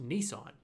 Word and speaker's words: Nissan: there come here Gather in close it is pronounced Nissan right hi I'm I'm an